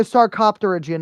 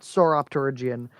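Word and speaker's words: Sarcopterygian: Oh, I'm think Saropterian, not Soropterian.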